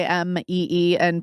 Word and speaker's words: Aimee: e a i m and please don't write to me and say it's not pronounced I know it's not pronounced it's pronounced ma but it's just a lot easier to say so I've never heard that pronunciation yeah well there's an accent on it and then people will